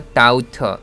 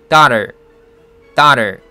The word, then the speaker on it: daughter: 다 할 때 뚫린 호 장모음은 우리말로 오보다는 아에 더 가깝습니다. 그래서 차라리 도터라고 하기보다는 다터라고 하는 게 더 낫겠죠. 좀 더 정확히 말하면 오하고 아 중간 정도에 위치하고 있는데 아에 조금 더 가까운 발음이죠.